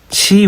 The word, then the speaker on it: 치: 높이 이라고 보시면 되요 공 상 각 치 5입니다 어진이 아니라 치라고 읽어야 됩니다 5가지 음계는 사람의 귀로